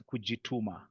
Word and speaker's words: kujituma: Did I say it right? No, no, the swahili word is kujituma.